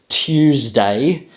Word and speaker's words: Tuesday: what's happened here is the original pronunciation Tuesday is a combination of the alveolar plosive yep to as well as the palatal approximate yeah to Tuesday Tuesday however